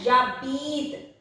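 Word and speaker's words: j'habite: If two vowels come together and it is E here, E should be omitted. No other vowel should be omitted like this. Only E should be omitted. And Jabit.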